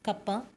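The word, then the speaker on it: κ: K is pronounced as kappa.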